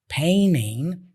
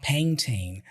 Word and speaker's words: painting: Americans usually drop the T in those cases and they only pronounce the N before the T. So that's why we hear him saying painting with an N sound and not painting.